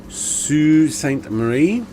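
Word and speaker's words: Sault Ste. Marie: are from Toronto to sue St Marie which is not how it's spell but anyway that's different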